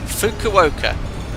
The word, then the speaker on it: Fukuoka: Fukuoka. Fukuoka. Fukuoka. Okay, perfect. I shall pronounce it like that.